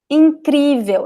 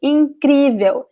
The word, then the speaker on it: incrível: Incrível, you can see the translator on the side here, okay? Incrível. Incrível, you see the accent here, so you know that the letter I, it is very stressed.